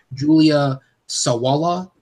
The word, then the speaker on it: Julia Sawalha: chicken run is pronounced Julia Sawalha swallow yeah it's just one swallow yeah we yeah we